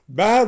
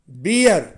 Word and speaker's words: bear: இந்த உச்சரிப்பில் உள்ள ஒரு சிரமம் என்னவென்றால், பொதுவாக மாணவர்கள் BEAR என்ற வார்த்தையை அவர்கள் தவறாக உச்சரிப்பார்கள். அதாவது பியர், ஏனென்றால் அந்த BEAR-ல EAR அந்த 3 எழுத்துக்கள் உள்ளன. EAR-னா ஏற்கனவே சிறு வகுப்பில் நாம் என்ன சொல்லியிருக்கோம், காது. EAR, ear, காது. எனவே BEAR-ஐ உச்சரிக்கும் போதும் பியர்னு சொல்லிடுவாங்க, அது தவறு. பேர், அதாவது தொண்டையில் உச்சரிக்கணும், ஏப்பம் விடுற ஓசையில் பேர், அல்லது ஏப்பம் விடுற சவுண்டு, அல்லது ஆடு கத்துற சவுண்டு மே, அந்த மாதிரி.